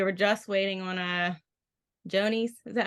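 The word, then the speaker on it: Johne's: Yonies. Yeah, okay. Yeah, It's sorry, like it's weird. John's with an E I and know, I know, it's spelled one way and you say it the other way, and I'm like, oh, yeah.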